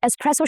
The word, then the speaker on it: espresso: He needs an espresso shot every morning. Espresso. No X sound at all. The S stays intact and the stress falls on the second syllable, which is press.